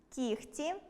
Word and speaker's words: кігті: Але варто затямити й деякі винятки: оглушення відбувається у словах “нігті”, “кігті”, “легко”, “вогко”, “дьогтю” та похідних від них. У вимові цих слів чуємо звук [х].